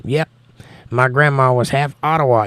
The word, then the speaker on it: Ottawa: my grandma was half Ottawa Indian or atawa Indian if you say it properly atawa and my mom is